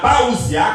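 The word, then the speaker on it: parousia: La paousia, comme ça se prononce, ce qui signifie en présence.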